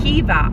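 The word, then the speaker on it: Caoimhe: she was saying, oh, you don't pronounce it Quiva, it's pronounced Kiva. I have never heard Quiva pronounced Kiva, but apparently up the north, that's how they pronounce Quiva.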